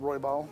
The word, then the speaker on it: Roybal: Uh here I spell or pronounce it Roybal.